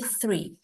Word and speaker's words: three: Jadi kalau ketemu TH, lagi dimanapun, mau di depan, mau di belakang, itu dibacanya agak samar, kayak sa, bukan kayak T.